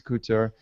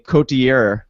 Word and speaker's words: Couture: first 3 games, are your top guys, is Couture, is Burns, is Pavelski, I'm sorry. Kowalski. I'm going to start calling him Kowalski. Kowalski, Burns, Couture. Help us with Nick earlier was saying Cotier.